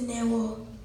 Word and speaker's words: Neo: The African pronunciation is Neo.